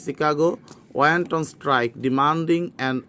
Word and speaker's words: Chicago: Machine Company in Chicago, এটা উচ্চারণটা হবে বাংলা আমরা শিকাগো বলি, Chicago, went on strike demanding an 8-hour work day.